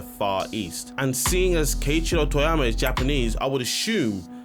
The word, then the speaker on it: Keiichiro Toyama: Keiichiro Toyama. Keiichiro Toyama.